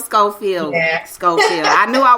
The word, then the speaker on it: Schofield: You know, it's actually pronounced Schofield. Schofield.